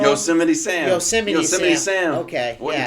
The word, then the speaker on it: Yosemite Sam: Sickety Sam? Sickety Sam? Oh, Sickety Sam? Am I botching his name wrong? Yosemite Sam.